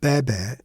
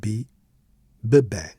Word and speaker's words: bébé: bebe, café, bonnet, but in bebe we also place an accent on the first syllable to ensure that it sounds like bebe, otherwise would be bebe, which makes no sense.